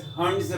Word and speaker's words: Hund: The way you pronounce, I will pronounce it as Hund's rule.